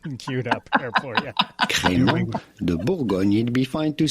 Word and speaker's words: Crémant de Bourgogne: I think we have the correct pronunciation queued up there for you. Crémant de Bourgogne.